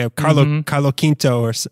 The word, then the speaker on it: Carlos Quinto: time and pronounced it in a very fluid Spanish speaking way of Carlo Carlo Quinto or like yeah it